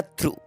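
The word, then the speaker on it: through: तो बच्चों यहां पे ग साइलेंट है इसको बोला जाएगा थ्रू थ्रू मतलब होता है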